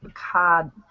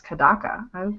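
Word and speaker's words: Kodaka: Prejudice schoolmates one day kada kadak it's kadaka I can't read I said it wrong the first time I think kadaka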